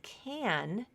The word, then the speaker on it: can: a the regular vowel whereas can is going to reduce so let me show